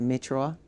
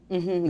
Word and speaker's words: Meteora: But I think it's like when I heard first time like a Meteora. Meteora, Yes. is that right pronunciation? Yeah, Meteora.